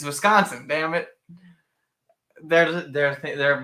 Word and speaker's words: Wisconsin: don't like we have shirts here that say wiscanson because that's all the people like the college um and like football announcers pronounce it yeah and we're all just like